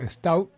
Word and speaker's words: Staub: El poder que convirtió a este comisario Staub se pronuncia, ¿no? Sí.